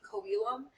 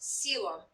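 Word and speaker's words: coelom: cavity called acila looks like it should be kobilum but that's actually pronounced selem and the ceilum it's it's actually um if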